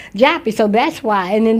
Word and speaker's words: Joppa: back then but I know it was it was pronounced Japy so that's why and